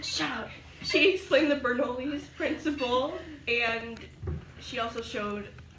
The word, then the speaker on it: Bernoulli: Bernoulli's.